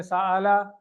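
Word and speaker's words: سؤال: साइलुन, मसऊलुन और सुआलुन, ये वाव नहीं प्रोनाउंस की जाती है, इसमें हमजा है। उर्दू में सवाल है, ठीक है ना, उर्दू में सवाल है, अरबी में सुआल है।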